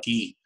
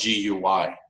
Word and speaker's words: Guy: they're incredible Corinne and key IP his name is key you spell it GU Y or you could call him guy he says love him